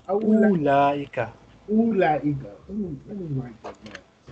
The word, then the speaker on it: أولئك: teacher female teacher so this would be awlaika ulaika I keep saying that ulaika ulaika ulaika mudarisatun Mudarisatun. Dalika Hajja. Hajjun. Hajjun. Hajjun. Dalika Hajjun. I'm going to mess it up again. Aulaika. Aulaika. Ulaika.